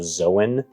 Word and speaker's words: Zoan: differently I I've I usually hear it referred to as a zoan okay type so uh